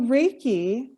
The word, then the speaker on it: reiki: we know great so reiki is a modality that's born out of japan reiki is spelled r-e-i-k-i and rey means universal life force and key is energy and so basically a